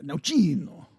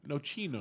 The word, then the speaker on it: Nocino: Nocino. Say it like you're Italian. Nocino.